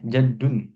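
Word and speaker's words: جدٌّ: Jaddun. Jaddun. Kek. Ee dalnya bertasydid seperti ini.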